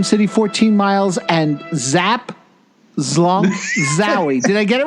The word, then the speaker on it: Zlonk: You got to get the L sound in there. Zlonk.